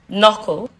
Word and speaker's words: knuckle: in these words doubts the letter K is silent in these words knife knuckle needs nicas knock neat